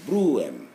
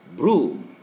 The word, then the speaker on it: broom: your own pace here this word would be pronounced in the uk transcribed phonetically as blue two-syllable two phonetic syllables brew m but cambridge and the us is only one sound broom so we have here